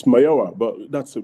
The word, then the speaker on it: Mayowa: It's Mayowa, but that's a B+.